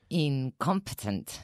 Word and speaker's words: incompetent: Incompetent. Nice. Two hard T's there.